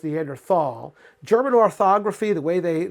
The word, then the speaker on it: Neanderthal: It was never pronounced Neanderthal. German orthography, the way they put their words together, actually changed at the beginning of the 20th century, and they got rid of those H's that are not pronounced.